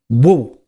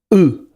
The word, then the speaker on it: will: Going to, obviously, normally is pronounced as gonna or gonna, and will is normally pronounced in the weak form woo or oo.